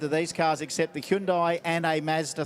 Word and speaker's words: Hyundai: 99 and 1389 qu question is it Hyundai or Hundai I'd just say Hundai Hundai Hundai H I feel like I'm saying it correctly 9 milph I but